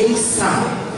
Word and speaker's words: Eisa: Eles tocam aí o taiko tradicional de Okinawa, o Eisa, pronuncia-se Eisa.